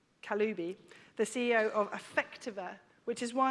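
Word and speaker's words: Kaliouby: As Rana Al-Kilaubi, I think I've got her name wrong, actually, Kaloubi, the CEO of Affectiva,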